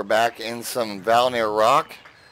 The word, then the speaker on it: Rok: in some valley near Rock or oak I've heard a couple people pronounce it rogue but anyway Valley Rock